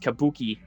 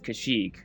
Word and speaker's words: Kashyyyk: I have some random schmuck telling me it's pronounced kabuki, and it's like, well, yeah, you and a group of other people pronounce it that way, but the actual creator themselves is Kashyyyk.